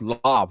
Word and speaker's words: Lav: use their V lob always thought it was laughs but it's actually pronounced lob like lava but yeah I use their V